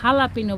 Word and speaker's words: jalapeño: হচ্ছে আমেরিকানে এটা বলে হচ্ছে মেক্সিকান মরিচ অথবা হালাপিনো বলে, এরা যে দিয়ে উচ্চারণ কিন্তু হালাপিনো বলা হয় আর কি।